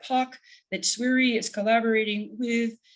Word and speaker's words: POC: poc outreach core consortium we pronounce that park that sweary is collaborating